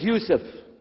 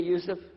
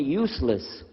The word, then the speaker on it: Yusuf: work on it inah my name is Yousef did you say Yousef said Yousef you're very good I wish you teach my wife she keeps mispronouncing it she calls me useless alhamdulillah now how many